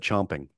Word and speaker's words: champing: It's champing. You pronounce it chomping. Oh, but it's spelled champing. It's spelled champing, but it's pronounced chomping at the bit.